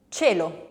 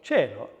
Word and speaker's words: cielo: the palate starts, j, j, voiced, and ch, ch, unvoiced. So can we think of examples of that? J. Gioco. And unvoiced? Cielo. Cielo. Now that's what we were calling in the other video soft G and C.